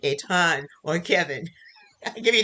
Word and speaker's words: Etan: have questions to either eaten a ton excuse me eitan or kevin i'll give